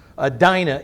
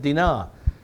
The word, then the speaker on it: Dinah: Dinah, if you want to, but the Hebrews would pronounce it Dinah.